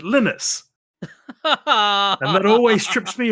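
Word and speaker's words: Linus: and I think okay it's named after the guy lonus yeah lonus to outs but no he's Swedish so he pronounces it lenus and that always strips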